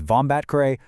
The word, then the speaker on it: Vombatkare: Make sure you've got the pronunciation down for your interviews. That is Vombatkare versus Union of India.